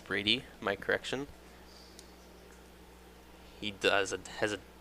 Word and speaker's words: Bundy: And the pronunciation of that name is Brady.